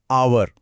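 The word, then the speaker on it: hour: इसमें एच तो साइलेंट है और आवाज आती है आवर, जो एक वॉवल साउंड है।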